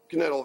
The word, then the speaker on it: Knittel: I'd like to introduce you to Knittel here. He pronounces the K because he's a stubborn German.